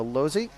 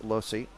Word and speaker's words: Losi: bulgaria running an mcd in southie running a lossy or a lossy as some people say but it is pronounced losi i think spence just crashed and let uh